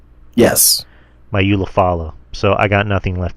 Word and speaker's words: Ulafala: Ulafala. Yes. My Ulafala.